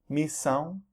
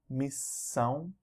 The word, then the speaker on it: missão: S-I-O-N or T-I-O-N, and they're pronounced as either zão or são. Examples here: extensão, extensão, tensão, missão, missão, divisão, divisão.